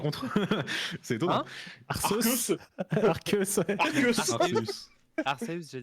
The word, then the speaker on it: Arceus: Donc Non, je ça, mets pas Dracarma, moi je mets Arceus, je trouve ça plus fort. Non, Ouais, mais Il il est prononce ex, bien c'est Arceus chiant. par contre. C'est étonnant. Hein Arceus. Arceus, ouais.